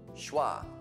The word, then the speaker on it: schwa: good British English pronunciation is called schah s h w a and it's basically uh